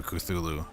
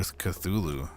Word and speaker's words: Cthulhu: Woo woo woo woo woo woo for Cthulhu. Woo woo for Cthulhu. It rhymes.